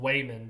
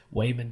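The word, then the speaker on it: Waymond: regards to this role weyman is his name is I know it sounds bad but that like it's Wayman dwang is his name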